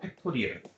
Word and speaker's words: 팩토리얼: 이 친구는 1부터 n까지 다 곱한 것이라고 하고 이 느낌표를 우리가 팩토리얼이라고 읽어요. 팩토리얼. n 팩토리얼 이렇게 읽어요.